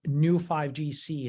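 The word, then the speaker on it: Neu5Gc: the molecule that causes this in me is new 5gc it's spelled neu5 GC and I think that this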